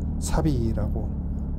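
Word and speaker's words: 寂び: 아 낭망할 차에다가 히라가나 비를 붙여서 사비라고 일본어 발음을 하거든요.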